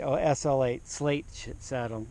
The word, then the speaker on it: SL8: Oh, SL8 slate saddle. SL8. I guess it's pronounced slate.